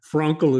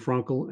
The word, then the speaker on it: Frankl: I'm very careful of my pronunciations. So Frankl is I think the way it is pronounced.